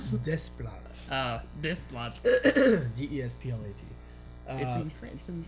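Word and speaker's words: Desplat: blood ah this one des plit I could see France and frankly they don't they don't pronounce the S yeah dev all I'm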